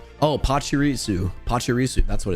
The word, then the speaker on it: Pachirisu: to be Pikachu EX de is it pisu Pachirisu pisu I think that's how it's pronounced right pusu p p oh Pachirisu Pachirisu that's what it's how it's called pusu